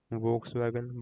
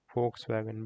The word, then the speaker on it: Volkswagen: Many people pronounce it as Volkswagen, but it's actually pronounced as Volkswagen because it's a German brand.